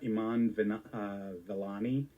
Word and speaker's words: Iman Vellani: I'm going to find her, Iman Vellani.